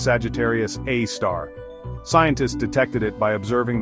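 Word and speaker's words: Sagittarius A*: This cosmic monster is called Sagittarius A asterisk pronounced Sagittarius A star.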